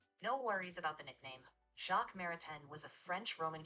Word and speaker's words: Jacques: It's pronounced Maritain, with a soft N at the end, since Jacques Maritain was French.